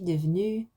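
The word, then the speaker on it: devenue: like this, and then you'd add an E on the end in the written form, because you wouldn't hear that E in the spoken form. Je suis devenu.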